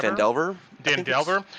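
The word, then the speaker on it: Phandelver: Is it Fandeveler or is it Fandever? Fandelver.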